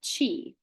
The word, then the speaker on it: qi: force inside your body called Chi and it's spelled Qi and Chi is the